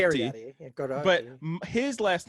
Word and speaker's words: Capriotti: Okay, so my last name is Cariotti, Cariotti.